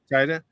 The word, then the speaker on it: Taika: How do you say the guy from Thor? Taki what? Taika.